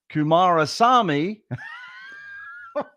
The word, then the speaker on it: Kumarasamy: and my producer please edit in the correct pronunciation of Brenda's last name which is kumarasami which which I royally messed up in the